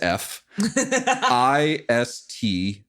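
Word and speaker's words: Phistos: It is PH parentheses F, Istos. All right. Fistos. So just the pH is the surprising part.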